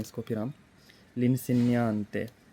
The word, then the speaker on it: l'insegnante: लिनसेनियांते, उस्ताद को कहते हैं, ये आर्टिकल है एल इन सेनियांते, जी इसमें साइलेंट है, और आवाज़ कैसी इसने